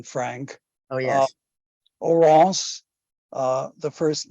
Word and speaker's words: Oronce: You asked about the pronunciation, Frank. Oh, yes. Oronce, the first name, and Fine, F-I-N-E, a French